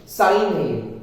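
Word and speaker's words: sign: एन ए जाए यानी जी के बाद जब भी एन होगा सो it will be साइलेंट जैसे साइन तो संयोजन नहीं तो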